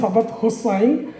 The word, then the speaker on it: সাদাত হোসাইন: ওর নামটা হচ্ছে সাদাত হোসাইন, কে আর আমি হচ্ছে ফরহাদ হোসেন। যদিও ইংরেজিতে স্পেলিং একই রকম, কিন্তু প্রোনাউন্সিয়েশন একটু ডিফারেন্ট।